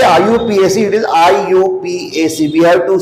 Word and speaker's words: IUPAC: First one, common name, and second, I.U.PAC. It should be I.U.PAC. You should not pronounce IUPAC. It is not IUPAC, it is I.U.P.A.C, because its full form is International Pure and Applied Chemistry.